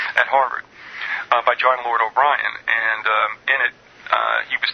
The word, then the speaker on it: O'Brien: It is John Lord O'Brien, but it's spelled B-R-I-A-N. O'Brien.